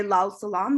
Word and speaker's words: Lal Salam: And if you're in South Asia, you would say Lal Salam, which is red salute for International Workers' Day.